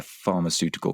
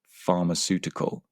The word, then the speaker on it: pharmaceutical: And Diego and his team are implementing one at a pharmaceutical company. Now, just be careful with the pronunciation of this word pharmaceutical. Don't be tempted to pronounce it phonetically.